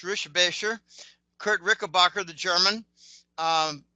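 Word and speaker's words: Richebächer: Um, I've actually met Kurt Ricker, which is actually pronounced Rishbasher.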